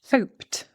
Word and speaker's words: hoped: Hoped, hoped, because the p coming before, we don't actually voice.